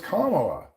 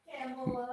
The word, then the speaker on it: Kamala: surrounding it Kamala Harris oh it's comma I didn't know that I I don't know how to say it really say it right camel no my name is not camela it's kala okay my name is not